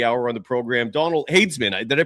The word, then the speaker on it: Hadesman: Let's bring the the man of the hour on the program, Donald Hayesman. Did I pronounce that correctly?